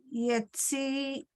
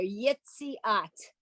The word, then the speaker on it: Yitziat: it's, okay, it starts with a little yud with a vowel under it. So it has to work like a Y in English. When a word starts with a Y, we pronounce it.